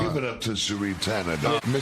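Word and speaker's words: Shri Thanedar: Sheree Tanadar. Tanadar. That's right. Give it up to Sheree Tanadar.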